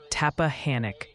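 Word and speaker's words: Tappahannock: It's emphatically Tapahhanic. Stress the hand like you're waving at someone.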